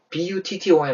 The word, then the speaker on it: button: B-U-T-T-O-N 아닙니까? 버튼 아니죠? 이건요. but이라고 소리를 내고 난 뒤에 숨을 참습니다. 그리고 하고 내뱉는다 생각해보세요.